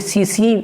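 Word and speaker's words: tsetse: इसके लिए कौन जिम्मेदार है, इसके लिए सीसी फ्लाई मक्खी। देखो टी यहाँ साइलेंट है, ठीक है, सीसी, टीएसई, इसे वो पढ़ेंगे, क्या पढ़ेंगे, सीसी फ्लाई मक्खी।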